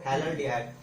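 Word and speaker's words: phthalaldehyde: T silent है यहाँ पे, थैलल्डिहाइड। अगर हमने अल्डिहाइड हटा के एसिड लगा दिया तो थैलिक एसिड बन जाएगा, ठीक है।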